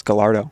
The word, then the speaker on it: Gallardo: intentionally wrong it's like when we said gardo and half the comments were just people correcting us on how to pronounce Gallardo literally like I I remember not even thinking twice about it and then reading the comments they like wow kid can't even pronounce gyo properly and I'm like that's one